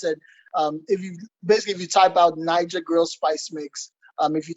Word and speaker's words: Naija: So Niger spelled like Naija, right?